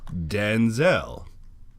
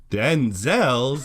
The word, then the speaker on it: Denzel: but it's pronounced differently his father's name is Dan Zell denzel's name is Denzel by screw guard in